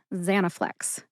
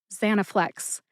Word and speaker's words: Zanaflex: together and you get Zanaflex. Which syllable do you emphasize? That is a good question because no emphasis is indicated in any literature anywhere. But I personally tend to emphasize that first syllable, za.